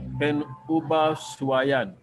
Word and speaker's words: pengubahsuaian: And then the last word, penubahsuaian. I repeat, pen. The G is silent.